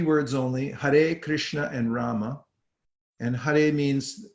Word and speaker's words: Hare Krishna: Every word has 2 syllables, and 16 words, 32 syllables.